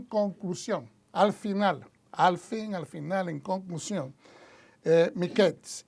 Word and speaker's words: Miketz: Algunos pronuncian Miketz, pero Miketz, que significa al fin.